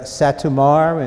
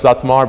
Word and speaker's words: Satmar: So I would give you an A for effort, at the very least, but technically, no, so it's Satmar, but that's the like Hungarian way, and Mikula.